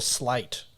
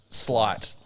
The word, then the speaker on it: sleight: There's a real Is that slight or slate? Sleight. So that's a slight, like magician sleight of hand.